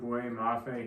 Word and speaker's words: Boye Mafe: Next up, the Kansas City Chiefs are up, and I was really considering David Ojabo here, but I went with Boye Mafe here.